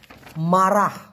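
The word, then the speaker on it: marah: আমরা জানি মালয়েশিয়ান ভাষায় মারা এম এ আর এ হ এইচ উচ্চারণটা হচ্ছে মারা এই মারা মানে হচ্ছে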